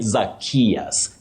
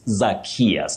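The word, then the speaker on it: Zacchaeus: Wanjala Silas, and somebody called Oh, this name is very tricky, but you say Zachaeus, Zachaeus.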